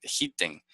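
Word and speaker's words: דחיתן: Ah, se pronuncia dejiten con N, dejiten.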